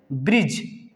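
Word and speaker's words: bridge: वहां पे ठीक है जैसे ब्रिज यहां पे दी को साउंड नहीं कर रहा है ब्रिज दीजिए ब्रिज नहीं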